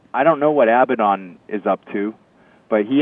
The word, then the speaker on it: Abaddon: Abaddon, yes.